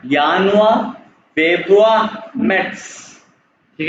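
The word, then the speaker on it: Januar: दिया इसको अभी इग्नोर करो ये है पहले यानुआ कैसे पढ़ेंगे यानुआ सेकंड है यानुआ।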